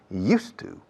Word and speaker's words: used to: Y la pronunciación, used to. Recordad el monasterio de Yuste, cambiando la E a U.